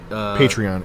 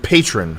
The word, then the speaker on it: Patreon: Patreon.